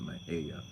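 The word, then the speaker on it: Mexia: Now in Texas we have a city called Mejia, which is spelled M-E-X-I-A, and we pronounce it Mejia, which is wrong, but you know how Tejanos are.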